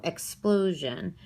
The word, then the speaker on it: explosion: So I know explosion, I see this stress here in this middle syllable because it's that three-syllable word. So explosion.